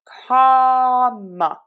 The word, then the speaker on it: comma: So for this, open wide for that ah and ka, comma. Schwa in syllable number 2.